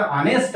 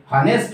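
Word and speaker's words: honest: आणि मग उच्चारण याचा ऑनेस्ट आहे, हॉनेस्ट नाही.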